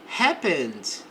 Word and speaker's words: happened: The arrest, então a prisão happened, não pronuncie o e aqui, ó.